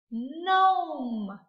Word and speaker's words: gnome: Gnome. Gnome. Do we say gnome? No. That G is silent. We only hear the N at the beginning.